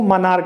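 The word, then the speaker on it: monarch: अब कुछ वर्ड देखिए जिसमें CH का उच्चारण क्या होता है, क होता है। जैसे दोस्तों ये देखिए, इसको मनार्क पढ़ते हैं, इसको मनार्क पढ़ते हैं।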